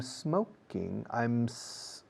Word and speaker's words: smoking: I'm smoking. Fijaos como no digo I'm smoking. No añado una E delante de smoking. La M se desliza directamente a la S de smoking. I'm smoking.